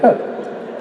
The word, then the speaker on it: KOC: It's KOC. It's Kings of Con. I pronounce it Coke. That's one man's pronunciation.